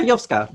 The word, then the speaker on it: YOVSKA: Yeah, YOVSKA.